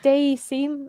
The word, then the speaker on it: Dayseam: Yeah, I wasn't sure how to pronounce it. Yeah, it's Dayseam.